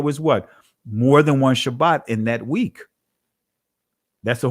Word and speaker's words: Shabbat: is a greek pronunciation sabbath is a greek pronunciation shabbat is the actual pronunciation so when you hear me say shabbat guess what when you hear others say shabbat with a thaa right that's letting us know that that's ain't that's hebrew that's ancient hebrew not sabbath right and